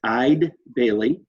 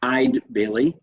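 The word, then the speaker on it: Eide Bailly: firm to interview is ide bailly apparently we've been mispronouncing that name but it's i'd bailey like e-y-e-d and they will be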